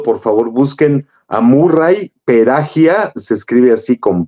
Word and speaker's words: Perahia: lo han oído Por favor busquen a Murray perahia se escribe así con p pera y h y a perahia Murray peraya es uno de los grandes grandes grandes pianistas